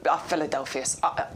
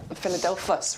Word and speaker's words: Philadelphus: is brilliant we've got the Philadelphia philadelphus rather I won't add an extra syllable in there that's my that's why